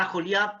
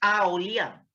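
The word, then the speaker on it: Aholiab: otro se llamaba ajo se llama a joliá porque la h en hebreo se pronuncia como jota no es a oliar es ajo ya estos hombres serían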